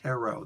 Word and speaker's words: Tarot: this one yes for the same conversation it's pronounced Tarot the teeth the last he is silent at